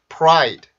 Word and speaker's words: pride: 근데 우리나라에서 이 프라이드라는 단어를 쓸 때는 요렇게 씁니다. 프라이드 이렇게 쓰는데 실질적으로 발음을 해보면 요 소리에 가까워져요. 자, 들어보세요. 어떤 소리에 가까운지. pride, pride, pride, pride, pride, pride. 이렇게 소리가 되는데 왜 그러냐면 R 발음이 입술을 이렇게 내밀어주는 소리라 그랬었죠.